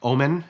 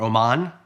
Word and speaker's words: Oman: by the way they're from like Omen in that part of the world or Oman don't mispronounce it so I said okay